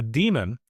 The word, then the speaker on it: daemon: A demon, spelled with an A, is different than a demon without the A, even though they're typically pronounced the same way.